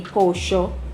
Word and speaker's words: pollo: very particular, you know, the double L and the Y, they pronounce it as sh. So like you learned pollo in school, it would be pocho, cache, chave, things like that.